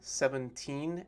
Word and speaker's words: seventeen: even hear the difference when i say them 17 and 7t it's very tricky actually so the